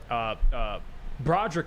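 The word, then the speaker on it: Brodric: Broderick Martin is how you pronounce his name.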